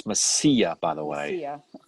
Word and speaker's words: Mesilla: It's Mesilla, by the way. Mesilla, so I did not, I butchered it like I do Massachusetts.